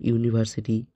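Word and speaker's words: university: এরকম ইউ এর মতো উচ্চারণ যেমন ইউনিভার্সিটি, ইউরোপিয়ান, এ দ্বারা কখনো অ্যান বসবে না।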